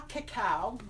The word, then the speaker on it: cacao: Raw cacao, and that's how it's pronounced.